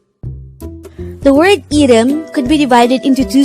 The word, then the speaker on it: 이름: is the korean noun for name the word edem could be divided into two syllables e is just the sound of